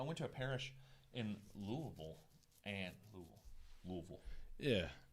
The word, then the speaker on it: Louisville: I went to a parish in Louisville. Yeah, it's Yeah. like one word. Louisville. One All one syllables syllable.